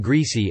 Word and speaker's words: greasy: Intervocalic s in greasy is pronounced z, as in other Southern American and some British speech.